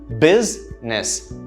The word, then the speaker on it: business: and this is incorrect the correct pronunciation only has two syllables the stress in the first syllable business business business is how